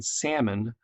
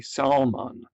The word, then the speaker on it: salmon: How about instead of saying salmon, they say salmon. Actually, more like it's spelled.